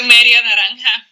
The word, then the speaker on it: media naranja: Tu media naranja.